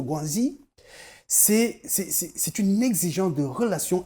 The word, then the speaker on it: guanxi: Là, je le dis, je le prononce pas en français. C'est le guanxi.